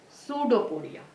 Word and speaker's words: pseudopodia: o d i a even it it begins with p you have to pronounce it as pseudopodia okay see the next